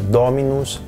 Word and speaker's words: dominus: As palavras podem ser proparoxítonas, quando a sílaba está mais longe do fim da palavra, mas isso só pode ser no máximo a antepenúltima sílaba, assim como em português. Então serão palavras como dominus, domina em latim, dentre muitas outras.